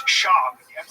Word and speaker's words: Schaub: Where's Brendan Schwab from? It's Schaub.